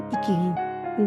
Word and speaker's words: Ikigai: where I is in Ikigai. Then to pronounce the word properly, you say Ikigai with a smile.